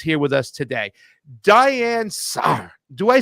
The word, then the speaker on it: Sare: Sare? Sare.